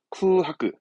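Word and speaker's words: 空白: 발음은 쿠하크.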